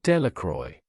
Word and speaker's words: Delacroix: Bobby and Harry Jones and Dickie Delacroix, the villagers pronounced this name, Delacroix, eventually made a great pile of stones in